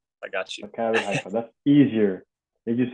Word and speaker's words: Maccabi Haifa: I still can't pronounce the name. It's called Maccabi Haifa. I got you. Maccabi Haifa.